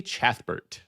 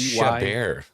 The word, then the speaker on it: Chabert: So, Lacey Chatbert. I thought it was Chabert. Lacey Maybe Chabert. it is Chabert. I always said Chatbert. How do you spell it? It's probably Chabert. Chabert. So it probably is Chabert.